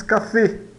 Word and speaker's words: café: Mas nós pronunciamos café, café. E significa café, né? Veja que esse café, ele esse E fechado não é tão fechado quanto o E fechado português, mas ele se aproxima do E fechado, tá?